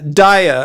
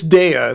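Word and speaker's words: Daiya: you it depends yeah Dia or DEA that I used to call it um it's DEA that's how to pronounce it yeah um Travis and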